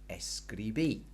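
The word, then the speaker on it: escribí: you chopped that IR ending off and on goes an i with an accent s greeby okay so what we've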